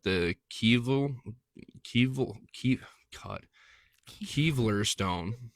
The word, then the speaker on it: Kylver: Kylver stone, k y l v e r stone, found in Gotland, Sweden Sweden or Goatland, Sweden.